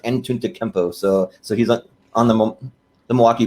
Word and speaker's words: Antetokounmpo: I know he has a really hard to pronounce last name, but it's pronounced Antetokounmpo.